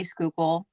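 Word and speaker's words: Schuylkill: in scoop County which nobody knows how to say skookul um because if you see the spelling people are like people always are it's a Native American name so are always can't pronounce um but I'm about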